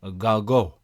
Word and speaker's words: Gargaud: And this week I was very confident with my guests, and I thought I've pronounced their last name magnificently, Gargaud.